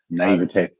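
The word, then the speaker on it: naïveté: The naivete, I hope I'm saying it right. Pedro, you fix me. You went to college. Naivete.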